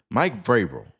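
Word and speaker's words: Vrabel: Mike Vil Mike Vabil. Mike Mike Vil, that's how you say it.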